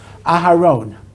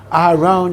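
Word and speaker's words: אהרן: However, occasionally, and in modern Hebrew it's not spelled this way all the time, Aharone is spelled with an extra vav between the Resh and the Nun to indicate the O sound.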